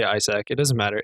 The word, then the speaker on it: Isec: or Isaac and Isaac it's spelled ISEC you pronounce it Isaac and so visually it's